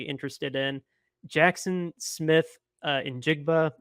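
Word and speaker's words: Njigba: in Jackson Smith uh in jigba I believe that's how you pronounce his last name okay that was right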